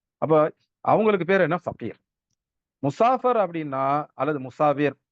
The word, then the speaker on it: முசாஃபிர்: முசாஃபிராக இருக்கிறோமா? அப்படிங்கிற விஷயத்த பார்க்கணும். இப்ப சஃபர்ல இருக்கிறவங்க, சஃபர்னா என்ன? பயணம். சஃபர்ல இருக்கிறவங்களுக்கு என்ன பேரு அரபியில? முசாஃபிர். இப்ப நெறைய முஸ்லிம் ஊர்கள்ல முசாஃபிர், இத வந்து முசாஃபர், முசாபர் அப்படின்லாம் உச்சரிப்பாங்க.